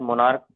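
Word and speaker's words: monarch: बट in case of स्टमच, ठीक, pronounce as स्टमक, ठीक, मोनार्क pronounced as मोनार्क, only S is needed at द एंड ऑफ इन to make them plural.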